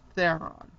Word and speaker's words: Theron: And I'm thinking the last name is pronounced Theron. On to an Oscar-winning performance